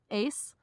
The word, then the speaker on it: ACE: oj you pronounce it I guess an English ace AC e it's orange carrot and lemon